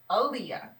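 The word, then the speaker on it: Aliyah: some of them in a story my name is spelled a-l-i-y-a-h Alia so many people mispronounce mispronounce I know Miss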